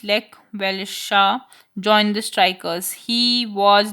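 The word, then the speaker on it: Lech Wałęsa: As the strike continued, a former electrician of the shipyard, Les Velesa, pronounced Lek Velesha, joined the strikers.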